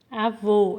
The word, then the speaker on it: avô: ó avô nós temos qual acento circunflexo né avô é o circunflexo e avó é lá agudo